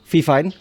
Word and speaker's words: Fifine: adalah ffine am8 e gua gak tahu sih nyebut merek ini vifine atau apa gitu ya karena mungkin aja kalian bacanya fafine atau vivine atau viin mungkin ya kan tapi gua akan nyebut ini vfine e vfine am8 jadi